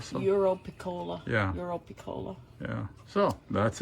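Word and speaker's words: Europiccola: Oh, Epicola, Eurocola. Europicola.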